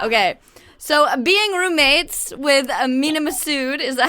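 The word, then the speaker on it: Mena Massoud: charge my laptop okay so being roommates with minam massud is that how you say it yes perfect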